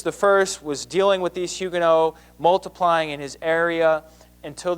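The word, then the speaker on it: Huguenots: Protestants there are called Hugo spelled hugenots but pronounced Hugo and so if you were a follower of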